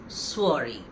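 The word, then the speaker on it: soirée: In this particular case it will be a birthday swari. So while the word is spelled slightly differently as you can see the sound of the word is different. It goes as swari.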